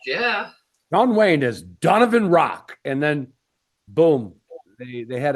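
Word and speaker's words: Raak: And her last name is Rock, but it's spelled R-A-A-K.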